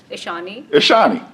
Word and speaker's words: Ishaani: all right so let's hear you say it ishani ishani yeah has it ever been mispronounced it's been like misspelled okay how's this